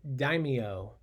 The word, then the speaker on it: daimyo: territories were run by that word is pronounced daimyo who were powerful military